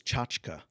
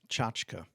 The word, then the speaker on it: tchotchke: The word of the day for today, January 9th, 2022, is tchotchke. Tchotchke.